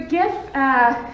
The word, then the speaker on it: GIF: And I think it is, but I like GIF with a G instead of a J, because it's like with a G, because it's like a gift. It's like a beautiful gift to the world.